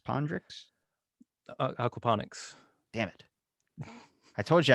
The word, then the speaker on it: aquaponics: Or starting aquapondrix. Pondrix? Aquaponics.